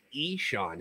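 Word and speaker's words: Ixan: It's spelled, what is it, I-X-A-N, I think is how his first name was spelled, but it's pronounced Eshawn Henderson.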